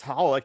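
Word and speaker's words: xxxHOLiC: then there's like x it's spelled x x holic but you're supposed to just pronounce holik and yet there's a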